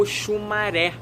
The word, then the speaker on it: Oxumarê: oxumare significa arco-íris né a pronúncia correta opção a do que muita gente bota como iguais tem o que muda né é o é o acento seria e falar também de como oxumaré é oxumaré não é muito interessante